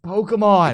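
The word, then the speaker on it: Pokémon: dude I'd be like say it right it's Pokemon it's Pokemon Pokemon yeah they're Pocket Monsters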